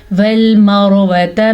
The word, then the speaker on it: وَالْمَرْوَةَ: کے ساتھ دیکھیں گے۔ پیچھے والے لفظ کے اوپر زبر یا پیش ہے تو را کو پر پڑھیں گے، پیچھے والے حرف کے نیچے زیر ہے تو را باریک پڑھیں گے۔ بہرحال یہاں پہ را پر پڑھی جائے گی۔ وَالْمَرْوَةَ مِن شَعَائِرِ اللَّهِ،